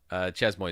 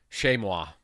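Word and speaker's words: chezmoi: If you're interested in backing up a bunch of dot files and going between Linux installs, chesmoy is pretty cool.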